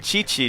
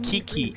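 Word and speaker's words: Qiqi: Yeah, you know I'm not good with the pronunciations. Like chi-chi took me a long time to figure out how to say correctly. I kept saying Kiki chaos.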